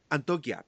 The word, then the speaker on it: Antioquia: Antioquia. Lo siento. La pronunciación, ¿viste?